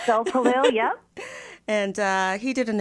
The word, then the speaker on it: Gulpilil: I can never pronounce his last name. Yes, no, that's correct. Gulpilil, yeah.